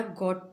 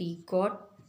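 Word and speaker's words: gotta: अब है हमारा गॉट टू, GOT, गॉट, TO।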